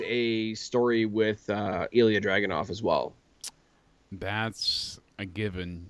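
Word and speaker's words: Dragunov: did I say it draag why did I say it like I was from Boston there that was dragonov Dragon a um but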